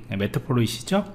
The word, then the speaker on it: Matplotlib: 그래서 뭐 발음을 뭐 그대로 하시면 됩니다. 메트플로잇이죠? 제 앞에 좀 발음이 좀 틀렸어요.